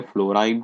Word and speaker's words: फ्लोरीन: इसका प्रोनाउंसिएशन अलग वे में भी होता है, फ्लोराइन, chlorine, bromine, iodine, astatine, टेनेसाइन, ऐसा भी बोलते हैं।